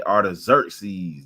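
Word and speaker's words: Artaxerxes: of the letter that uh asahara it say AR xeres that's how you say it in the Greek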